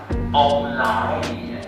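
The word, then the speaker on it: 旺來: Because when we pronounce pineapple in Hokkien is Om Lai.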